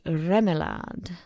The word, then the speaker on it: Remillard: the family name is fairly common one now pronounced remad in a straightforward Yankee way as far as